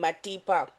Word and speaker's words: Matipa: Maybe Um, with a more solid T. oh, Yeah, Matipa.